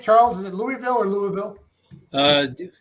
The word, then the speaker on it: Louisville: is it Louisville or Louisville uh dropped the eye out of this just uh it just comes from way back in your throat Louisville Brett I don't